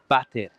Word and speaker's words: water: in spanish they use that for toilet a lot of the times you would say dondesta el bate and of course it's spelt w-a-t-e-r alfondo and that's the answer